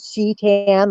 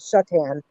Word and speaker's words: Shetan: no eyes in there so I usually tell people to pronounce it she tan like she Tans at the beach um and that's just